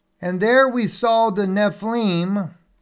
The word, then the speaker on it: Nephilim: FEI yod lamid that's Nephilim all right the little yard right there is what gives it that e sound in there Nephilim